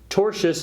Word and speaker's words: tortious: about a legal concept known as tortious interference tortious if you're not familiar with the word is spelled t o r TI o us and